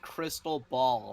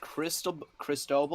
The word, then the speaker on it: Cristobal: It's pronounced crystal ball. No, Nathan. it's not. No, it's not. Yes, it is. No, it's not. No, it's not. Chat, is it pronounced Cristobal or crystal ball?